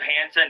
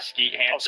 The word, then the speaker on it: Hansen: I'm glad you said Hansen, not Ski Hans.